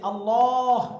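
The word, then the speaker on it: الله: আলাল্লাহি আল্লাহ আলাল্লাহি আল্লাহ এই যে আল্লাহ এই শব্দটা করে উচ্চারণ আল্লাহ বলেন তো গোল করে উচ্চারণ করতে হবে আল্লাহ আল্লাহু আশা আলাল্লাহি তাহলে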